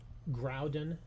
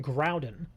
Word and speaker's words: Groudon: Yeah, because look at it's it's it's basically spelled like ground. Like if you if you take the N from the end of the word and put it in front of the D, you now have ground.